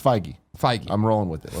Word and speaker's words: Feige: Fahey. We'll make I'm sure gonna when we run- walk okay. in there, we'll make sure we pronounce it Our correctly. new canon, kind of funny canon, it's Feige.